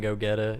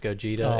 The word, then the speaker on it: Gogeta: I grew up and I realized that it wasn't go getta it ended up being pronounced Gogeta and then the longest